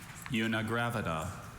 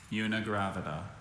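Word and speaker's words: unigravida: Unigraida.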